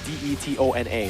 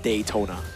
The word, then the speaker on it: Detona: And it's it's like it's spelled d e t o n a. So it's detona. It's not Daytona.